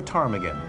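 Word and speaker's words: ptarmigan: to Karma the willow the p is silent okay The Willow tarmigan tomago The Willow tarmigan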